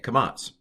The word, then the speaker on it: kamats: And that's the long A, kamats, pronounced ah.